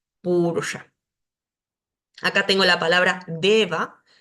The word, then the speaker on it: deva: Acá tengo la palabra deva, deva. La E siempre es larga y esta va luego de una vocal suena como la B, deva.